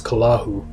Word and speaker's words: Cthulhu: ones the great dreamer cthulhu or as i said to be pronounced in the tongue of the old ones kalahu is a great old